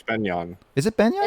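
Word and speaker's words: Begnion: Are you sure it's not pronounced Benyon? It's Chris said it's like Bagnion. I thought. No, it's Benyon.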